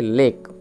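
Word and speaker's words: lake: একসাথে যুক্ত করলে লে লে আর কে ইতে কম ইটা সাইলেন্ট এর কম বুঝতে পারলে তাহলে লেক সাউন্ডটা কিরকম ভাবে এলো না এলে কেই লেক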